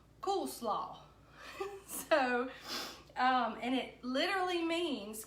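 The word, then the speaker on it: koolsla: word cut it spelled Kol SLA and it's pronounced cool slaw so and it literally means cabbage salad so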